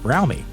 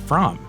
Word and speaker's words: Fromme: aka lynette squeaky frowmy which incidentally it really is pronounced brownie not from the two founded the